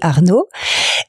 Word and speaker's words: Arnaud: Cédric, j'ai 2 enfants qui s'appellent Nathan et Arnaud. Et d'ailleurs, le nom de mon entreprise, Laboratoire Nao, vient d'un jeu de mots avec le prénom de mes 2 garçons. D'accord. Puisque Arnaud s'écrit A-R-N-O.